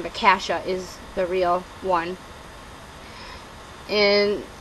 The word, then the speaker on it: Cassia: here um cross uh continues this story of casha I just learned that's how you're supposed to pronounce the main character's name I thought it was cassia because I had a best friend growing up